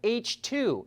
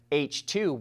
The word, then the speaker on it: HTWO: And speaking of Hyundai, the company created a dedicated fuel cell brand called H2, and that's spelled HTWO.